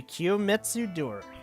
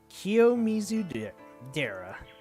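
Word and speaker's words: 清水寺: This is the Kiyomitsu Dora. No wait. Kiyomitsu Dora. Dora. Why am I thinking Dora? Kiyomizu Dera.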